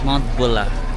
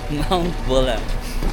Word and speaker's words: Mount Buller: Hindi pala siya Buller. Pag pino-pronounce wala palang R. Mount Bulla. Nandito t sa Mount Bulla. Yung parang ginagamit sa basketball. Bula char. Mount Bula.